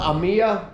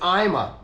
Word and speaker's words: AIMA: spell it I sometimes I call it Amia I'm in Buu Mississippi I'm not Chinese I love Chinese people but I have sometimes have trouble with the pronunciation of of how that all works but I believe it's IMA Santa Monica the white I think